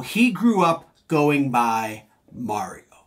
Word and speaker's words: Mario: In Italian, and the way the French pronounce it, it is Mario. So he grew up going by Mario.